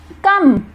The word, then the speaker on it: come: Next कम, here in this word E letter is silent, spelling क्या होगी COME कम।